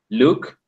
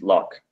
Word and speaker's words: luck: Hey, by the way, you said look, but the pronunciation is luck.